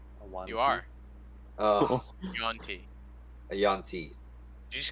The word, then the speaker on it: Yuan-ti: we're completely sleeping on Kilios being a fucking Utah. A one You are. Yuan-ti.